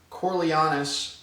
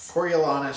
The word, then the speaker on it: Coriolanus: Okay, so we have, the main character is a young Coriolanus Snow. I pronounced that right? Coriolanus Snow.